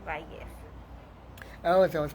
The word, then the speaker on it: Vallez: the the l yeah the two l's in spanish um make the y sound so so value oh if i was